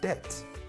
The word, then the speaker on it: debt: you have definitely met debt. The B is not pronounced.